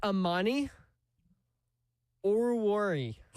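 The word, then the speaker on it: Amani Oruwariye: It's Ammani Oruri. What? I look I I looked up a a game pronunciation like of a highlight.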